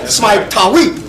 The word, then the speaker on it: Smai Tawi: Because Smai Tawi is when Ethiopia, Uganda, Somalia, Egypt was one powerful nation called Smai Tawi.